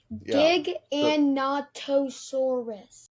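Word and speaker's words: Giganotosaurus: It's a Gigonosaurus. Wait, Giggonosaurus. Let me see how to pronounce it. It's Dig and Nattoosaurus.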